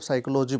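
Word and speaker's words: psychology: Correctly spelled word मतलब साइकोलॉजी बोला गया, साइकोलॉजी का सही स्पेलिंग जो है वो आपका डी नंबर में है, ठीक है। पी साइलेंट होता है इसमें।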